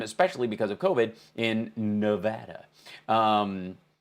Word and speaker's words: Nevada: covid in nevada um not nevada as the president pronounces it along like with uh plasma um and if you'll recall he had a big brain fart about nevada nevada they pronounce it nevada here they're very firm about that it's like you know